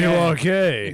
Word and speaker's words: Milwaukee: It's pronounced Milwaukee, Milwaukee.